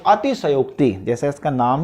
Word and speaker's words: अतिशयोक्ति: सनोक्ति अलंकार होता है इसके उच्चारण का भी आप लोग विशेष ध्यान रखें कई लोग जो है इस प्रकार से गलत है अति सहयोग ऐसा आप ना लिखें क्योंकि अतिशयोक्ति नहीं होता अति सनोक्ति होता है तो यह भी